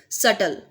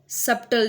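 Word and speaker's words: subtle: Third हमारे पास है सटल, सप्टल नहीं होता।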